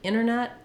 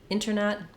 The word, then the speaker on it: internet: the T off um inwards with the NT like internet internet those can just be left off when there's an NT